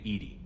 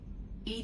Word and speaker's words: EDI: is a jar def why are you named Ed Ed is the phonetic pronunciation of Eed that is an acronym for